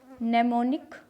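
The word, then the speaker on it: mnemonic: एम जो है ये भी बहुत रेयरली साइलेंट रहता है, जैसे ये लिखा है नेमोनिक, इसमें एम साइलेंट है।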